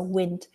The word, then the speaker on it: wind: strong winds yeah so wind howled through woodlands and if we pronounce it like wind wind your watch because it's going to